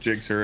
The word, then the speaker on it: Gsxr: everything's gs xr clyde it's pronounced jigsaw if people have some